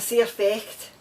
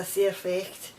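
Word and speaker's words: sair fecht: it's are we saying and it's it's a c effect and it's spelt it's uh an s-a-i-r f-e-c-h-t it's a surfex and it means that's too bad that's life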